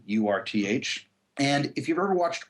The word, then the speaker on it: Urth: a place for coffee called Earth Cafe and it's spelled with a u Urth and if you've ever